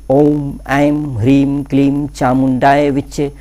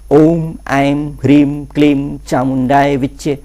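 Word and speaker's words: ॐ ऐं ह्रीं क्लीं चामुण्डायै विच्चे: जो करने के लिए मैंने बोला है कि ओम एम भ्रीम कलीम चामुंडाए विच्चे यंत्र ऐसी वाइब्रेशन के साथ आपको शुद्ध उच्चारण आज गलती नहीं होनी चाहिए ध्यान रहे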